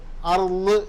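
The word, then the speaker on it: أرض: അതുപോലെ തന്നെ അർള് എന്നാണ് ഉച്ചരിക്കേണ്ടത്. അർദ് എന്നാണ് നമുക്ക് എഴുതാൻ പറ്റുള്ളൂ മലയാളത്തിലായതുകൊണ്ട്.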